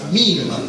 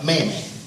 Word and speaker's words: meme: si pronuncia lui dice potrebbe essere pronunciata in rima con Crim con crema quindi si pronuncia MIM in inglese la parola in italiano diciamo Meme no questo passo appunto